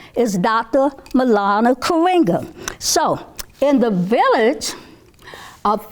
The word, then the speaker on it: Maulana Karenga: Maulana Karenga. So, in the village of friendship, we're going to learn about Kwanzaa because Dr. Karenga, and I want you to say his name, Maulana Karenga.